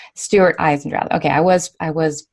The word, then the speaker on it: Eisendrath: your name out loud for us it's Stewart eyes and Stewart eyes and drive ok I was I was pronouncing that correctly earlier and so do you